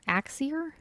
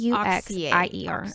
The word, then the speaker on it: Auxier: Axier? It's Auxier.